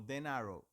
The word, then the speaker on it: Den Harrow: Harrow es que Dan, los italianos pronuncian muy levemente la H y como es una y como fue un producto italiano, el desgraciado que tuvo esa idea, Denarow, ellos lo pronuncian como Denarrow.